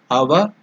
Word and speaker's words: Avaguntana: So the tongue should touch the upper portion of the mouth.